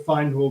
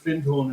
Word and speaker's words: Findhorn: even I called it fine horn when I first saw it written but it's actually pronounced fin horn in the north of Scotland which um became um